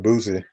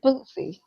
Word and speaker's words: Bootsy: just like you got on me about Mr. Boozy or Bootsy, how you pronounce Bootsy, it? it's Bootsy.